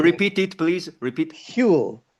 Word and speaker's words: Whewell: it is Whewell, and there's a sort of a breathless, sort of breathy So kind of beginning. repeat it, please. Repeat. Whewell, Whewell. Whewell.